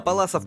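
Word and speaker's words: Паллас: на борьбу ходил А паласов кот называют потому что в 1776 году Пётр Симон Палас был первым кто описал ударение на А не перепутайте вот этого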